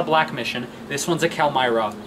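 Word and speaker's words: Calimyrna: It's spelled Calmyrna, but it's Calmyra.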